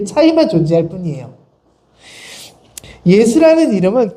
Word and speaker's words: 예수: 여호수아는 이름 역시 예수입니다 여호수아는 히브리식 발음이고 예수는 헬라식 발음입니다 그 차이만 존재할 뿐이에요 예수라는 이름은 그 당시 또